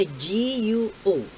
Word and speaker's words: Guo: Yung iba, Go. Hindi naman po Go yun eh. Ang Go is G-O. Ang sa kanya, G-U-O. Guo.